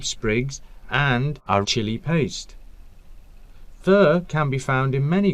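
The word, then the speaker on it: phở: take you to taste fur which is the most popular vietnamese national cuisine p-h-o pronounced fur is a noodle soup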